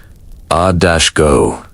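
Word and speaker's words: agoge: This is the moment of mandatory enrollment into the Aggie pronounced a-go- the state training system.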